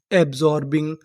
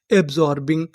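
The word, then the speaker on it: absorbing: मैं आपको बता दूं कि जो हमारा एस होता है वो कभी कबभार जा का भी काम करता है। किसका काम करता है? जा। यहां पर जो हमारा एस है वो जा का काम करेगा।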